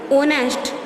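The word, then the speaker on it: honest: उसके बाद में है ओनेस्ट. ओनेस्ट मैन. तो एच इसमें साइलेंट है, ओनेस्ट, ठीक है।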